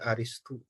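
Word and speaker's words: أرسطو: Orang Arab menyebutnya aristu.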